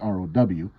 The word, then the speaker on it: rho: the greek letter rho which in english is spelled like this but it's pronounced row that is actually the